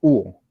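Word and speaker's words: ŭo: yo, No, se pronuncia uo, uo, uo. ah, Tiene la misma pronunciación de esta U de acá.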